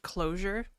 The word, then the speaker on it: Clojure: So maybe I write too much closure. Yeah. It's called So Nitromorphine. It's It's written with a J. Excuse me. It's written with a J, but it's pronounced closure.